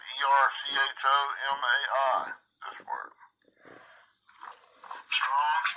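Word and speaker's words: ἔρχομαι: 2064, Erhamai. Erhamai, I think is the way to pronounce it. Erchomai.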